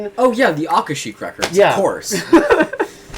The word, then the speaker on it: Akashic: Akashic records? That's right. That's correct. Akashic records.